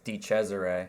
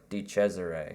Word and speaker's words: DeChesare: It's DeChesare.